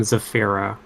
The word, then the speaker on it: Zafira: She pronounces her name Zafira.